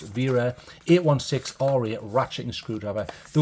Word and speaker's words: Wera: this open so VRA even though it starts with a w it's pronounced ver 816 R8 ratcheting screwdriver